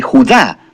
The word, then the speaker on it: Judá: o más precisamente Judá, de acuerdo con la pronunciación de su nombre tanto en griego como en hebreo.